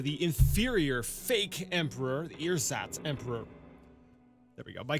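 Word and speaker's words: ersatz: me a second sorry apparently pronounced earzotts um adjective meaning uh it's made or used as a substitute typically an inferior one for something else so um the the inferior fake emperor the earsats emperor there we go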